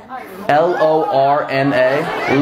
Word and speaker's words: Lorna: I not just say that spell it l-o-r-n-a Lorna not even a real name Lorna what's